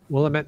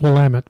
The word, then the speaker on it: Willamette: longer allowed yes and I think it's Willamette but Willamette okay yeah you're right there isn't an extra eye in there that I was pronouncing yeah Willamette but I really want